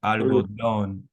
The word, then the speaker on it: algodón: And then here we have the accent, which is what I was saying before. It wouldn't be algodón, would be Mm. algodón.